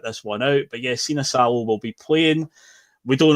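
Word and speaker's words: Sinisalo: Bit of an interesting one because, and you taught me how to pronounce this before the show, Liam. So, substitute goalkeeper, how do we say it? Sina Salo. Sina Salo is going to start.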